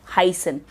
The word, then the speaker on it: heißen: The use of the verb heißen. You must be seeing this beta. It is not beta, it is pronounced as set. And it has a sound of doppel S.